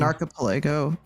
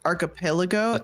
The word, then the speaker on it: archipelago: little breakfast yeah but they call it an archipo breakfast yeah that they do for those of us at home that totally know what that word means but for sure I said it right but it's the the map if you look at the map and we're in a we're in one it's archipelago it's like a collection